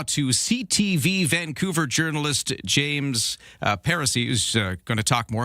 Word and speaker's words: Paracy: Pariseau.